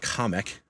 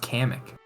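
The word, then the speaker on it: Kamek: I thought I thought it was always pronounced kamic. It is. Well, that's what they pronounce. Only Only an animal would say comic. They That's how Go back and watch the trailer. They're animals. Yeah, it's Kamic.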